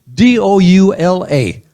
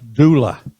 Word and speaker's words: doula: I looked up the word d o u l a which I had never heard before. I had never seen it in any writings pronounced doula.